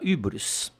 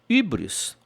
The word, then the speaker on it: hybris: Hybris se pronuncia, me lembro da minha professora de francês no colégio, com aquele U com biquinho, que o francês tem U, que nós não temos. Nós temos apenas o U, apenas.